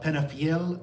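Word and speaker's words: Penafiel: The next day, how do you pronounce all these things? All these things. Porto, uh Guimarades, uh Penafel, and Visu.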